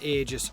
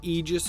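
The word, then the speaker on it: Aegis: is the silver and agis Prime sorry I mean the egis Prime because apparently that's how you actually pronounce that word egis which I will definitely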